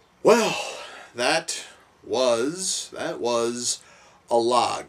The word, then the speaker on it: Alag: that was that was a log yes I yes I found out way early in the film that I was totally pronouncing it wrong when I first was talking about it yes a log